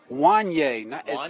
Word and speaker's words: Wanye: We want to thank Jada Flips for also giving us the correct pronunciation. It's Wanye. It's actually spelled Wayne on our paper, but it's Wanye.